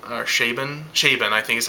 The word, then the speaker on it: Chabon: I mean, it was co-written by Michael Chabon, or Chabon, I think is how you say his name, who is, he's a Pulitzer Prize winner, guys.